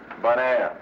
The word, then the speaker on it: Bonaire: Bonaire, you know, bon, good, air, Bonaire.